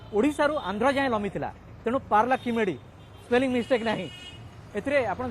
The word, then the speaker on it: Paralakhemundi: হচ্ছি ইংরেজি দুর্বল নাই আপনারা যদি তেলেগু ভাষার যদি দেখিবে উচ্চারণ পারলা কিমেডি নট পারলা খেমুন্ডি ইয়ে ঠিক তবে পার্লা